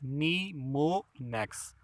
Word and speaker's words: mnemonics: It is pronounced as mnemonics.